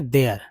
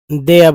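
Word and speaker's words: there: तो दोस्तों ये जो है आर को र आप समझिए दे। दे द ठीक है? क्या उच्चारण करेंगे? देयर देयर बोलेंगे क्योंकि र आएगा ठीक है लेकिन घसीट कर इतना सूक्ष्म रूप से कि पता नहीं चलना चाहिए देयर वाज इसको ज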